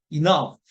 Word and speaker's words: enough: 모음의 강세가 있고 GH가 F 발음 납니다. 그래서 enough.